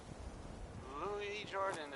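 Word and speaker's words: Lewis Jordan: Louis Jordan is up next. It's spelled Lewis, but don't be fooled.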